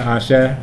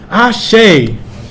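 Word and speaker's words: àṣẹ: situation everyone will be saying ahsha ahsha ahsha now one of the things people say I shade which isn't quite the pronunciation so the point of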